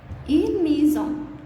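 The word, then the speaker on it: maison: هنقولك هنا الاس دي اتحولت لزد. ليه؟ لأن هي جت هنا بين حرفين متحركين فتحولت لزد، بتتنطق زد. دي قاعدة من قاعدة الصوتيات في اللغة الفرنسية. يبقى نقولها تاني.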